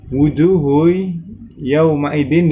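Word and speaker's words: وُجُوهٌ يَوْمَئِذٍ: Wujuhu yawma idzin di situ terdapat tanwin, lebih tepatnya dhamma tanwin bertemu dengan huruf ya, maka itu termasuk hukum bacaan idgham bil gunnah. Maka cara membacanya dengan mendengung.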